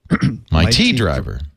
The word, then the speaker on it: My T Driver: is Yes except it's might T T driver my tea driver my tea dri oh yeah you did you